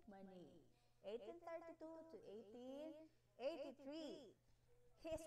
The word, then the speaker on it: Manet: Yeah, you heard it right. It pronounces Edouard Manet, 1832 to 1883.